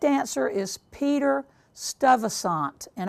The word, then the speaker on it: Stuyvesant: The correct answer is Peter Stuyvesant, and I know that I am mispronouncing that horribly. It is Stuyvesant.